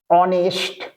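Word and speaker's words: honest: হও ইউ আর অ্যান অনেস্ট ম্যান তাহলে only then you আর অ্যান অনেস্ট ম্যান এইচ দিয়ে শুরু কিন্তু উচ্চারণ অ চলে আসছে তাই এন করলাম আর হ উচ্চারণ আসলে এটা এ হতো তাহলে অ্যান অনেস্ট ম্যান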